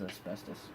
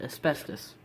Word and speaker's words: asbestos: I know, I'm saying that very American. Everywhere else says it asbestos, I think. But over here we call it asbestos. There's no O at the end, we say it like there's an I at the end. Asbestos.